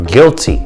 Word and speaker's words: Gilty: Gilty. The L stands for Lemar, L-E-M-A-R, Gilty. No be fooled, it's not G-U. I was born guilty, but it's spelled with a G-I-L-T-Y.